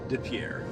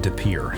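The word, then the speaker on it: De Pere: scenic little town south of Green Bay called DePierre. Well, as always, I was pronouncing this name wrong. It's called DePierre, so here we go. DePierre, Wisconsin is a historic town along the Fox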